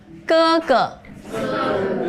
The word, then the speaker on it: 哥哥: So, elder brother, we say 哥哥. Yes, look at the pinyin here. 哥哥哥. Yes. Don't use English pronunciation and just follow me.